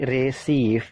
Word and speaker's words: receive: Jadi receive, bukan receive tapi receive. Jadi itu suara vokal yang berbeda.